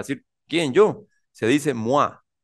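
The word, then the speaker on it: moi: enfatizar como para decir quién yo se dice mua mua se llama tónico en francés entonces s yo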